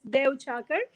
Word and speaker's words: Deuchhakar: And sometimes people say how to pronounce it. So it's Deuchhakar.